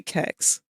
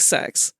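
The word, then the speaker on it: CeX: it's got to be kex they can't have seriously hold on it is pronounced like sex what does it stand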